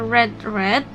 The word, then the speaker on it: read: membaca Nah untuk kata red red verb two dan verb 3 tulisannya sama hanya saja dibacanya berbeda read red R Nah di